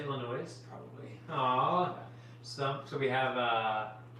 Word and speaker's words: Illinois: Someone wanted to let you know that the S in Illinois is silent. Did you say Illinois?